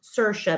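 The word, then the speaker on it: Saoirse: the hardest name in the world yes it's pronounced sercia but it's spelled i s-a-o-i-r s e it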